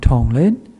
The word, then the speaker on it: Tonglen: And there's a Tibetan word here called tongen. T O N is one syllable then len is the other one and means giving and taking.